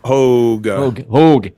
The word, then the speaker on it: Hoge: Hoge. Rhymes with Hoge. I don't know. Hoge. Vogue. Rhymes with Pogue. The Pogues. Yeah. So, just think that. Yeah. So. Hoge, as in the Pogues.